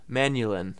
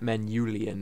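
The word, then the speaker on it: Manyullyn: see how it's outspelled manulin manulin that's how I pronounce it manual not manuelian as some people say I'd say manhulin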